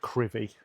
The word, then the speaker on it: Crovie: Welcome to Crovie. A remarkable storm hit the village. It is pronounced Crovie, and I don't remember things that happened really.